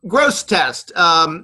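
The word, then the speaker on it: Grosseteste: do you think yeah gross test sometimes the second E is silent but I say gross a test first yeah but it's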